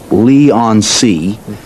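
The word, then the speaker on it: Leigh-on-Sea: It's 21 Tempame's Drive Lee on C.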